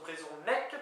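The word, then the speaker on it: brezhoneg: Brezonec, qu'on écrit B-R-E-Z-H-O-N-E-G, mais qui se prononce Brezonec pour breton, tout le monde le sait aussi.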